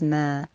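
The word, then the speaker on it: ما: dash linked to a vertical line and it's pronounced as mer please remember what this looks like and look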